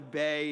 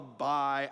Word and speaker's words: Bai: uh you you can you can pronounce it however you want it's the bai drink i call it a bay it's called what people call buy i don't know it's